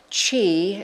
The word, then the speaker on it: qi: Chi, it's spelled QI but pronouncedqi, which means energy uh is said to run through these channels.